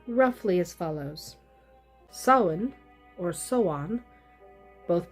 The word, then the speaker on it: Samhain: Samhain, or Soan, both pronunciations are correct depending on the dialect. The pronunciation that is not correct is Samhain. It is not pronounced the way it is spelled.